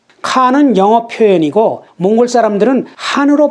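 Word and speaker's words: хаан: 칸은 영어 표현이고 몽골 사람들은 한으로 발음하죠.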